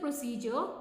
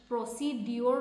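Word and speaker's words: procedure: প্রসিজার two feel after form what is দা প্রসিজার two fill up form মানে form form fill up করার প্রসিজার টু কি মানে কি ধরনের করিব প্রসিজ প্রসিজ প্রসিজ প্রসিডিউর নয় প্রসিজর হোয়াট ইজ দা প্রসিজার আরো যদি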